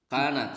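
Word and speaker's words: كانت: Kanat, sahih, kanat. Ya. Jadi kanat dibacanya ya. Kanat.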